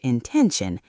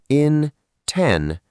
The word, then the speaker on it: intention: Yes, the word intention, how do we say it? In-TEN-tion. 3 syllables. The stress is on the second syllable, ten.